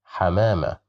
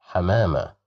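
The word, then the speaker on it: حمامة: Here we have fatha. So we will pronounce it as ha, hamama, hamama, hamama, which means a dove.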